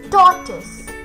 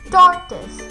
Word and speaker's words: tortoise: The next one is tortoise. Tortoise. T-O-R-T-O-I-S-E. Tortoise. The O is silent, so it is tortoise.